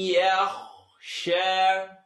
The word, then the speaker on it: يخشى: Everyone say, Man yakhsha. Try it again, without all the hoopla. من يخشى It's going to vibrate in your nose. We know about that. من يخشى Light to heavy transition.